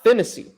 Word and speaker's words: Phinisee: david to julius so i'm going through the pronunciation guide up right here yes rob finney boom i got it i knew i was